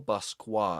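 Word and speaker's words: Basquiat: And it's a collaboration with John Michael Basqua, I think is how you pronounce the last name.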